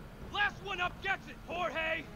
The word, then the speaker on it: Jorge: one up gets it jorge my name's pronounced jaw hey it's george uh what